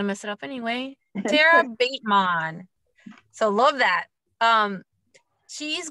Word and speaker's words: Batemon: and i said um how do you say your last name because i was saying the o or the a what's the vowel sound this is with the oh bateman bateman bateman i knew